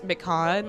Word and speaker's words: Mikan: so much I love you pronounce Mikan like pan I'm sorry is it Mikan I say Mikan I've been saying Mikan